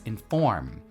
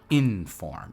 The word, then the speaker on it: inform: Now, the way you pronounce it is you put the stress on the second syllable. So it's inform, not inform, right?